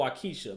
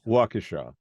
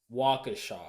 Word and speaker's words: Waukesha: in my mind I thought it was called Waukesha go yeah that was called wakisha but that's not the correct way to pronounce no Waukesha Waukesha Waukesha Your Studios at Waukesha right yeah so